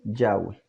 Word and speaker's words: Yahweh: eruditos concuerdan en que la pronunciación del nombre del eterno debe ser yagüe ya para concluir me